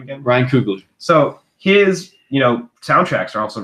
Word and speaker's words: Ryan Coogler: Ryan Coogler.